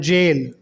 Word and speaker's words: gaol: Number 5 pair words हैं गोल एंड जेल। दोनों की स्पेलिंग में देखो कितना फर्क है। पहला है GOAL गोल, जिसका मतलब है एम, और दूसरा है GAOL, इसको हम जेल पढ़ेंगे और इसका मतलब भी जेल है।